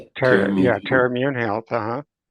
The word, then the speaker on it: Terra: And and I went to the I go to the Terra I don't know how to pronounce it. Terra Yeah, Terra Immune Health.